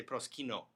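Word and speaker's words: προσκυνέω: And again, he's anchored on proskyneo, right? I say proskino, right?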